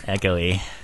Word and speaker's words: Echoe: Is there a different pronunciation to that? Echo. Echo. Mr. Echo. Echoy. Like Echoy. Yeah. Echoey.